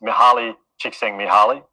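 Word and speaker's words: Mihaly Csikszentmihalyi: guy's known as far as i'm aware is pronounced mahali chiksing mihaly so like his first name is also part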